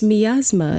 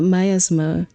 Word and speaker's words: miasma: And Google told me it's miasma, not myasma.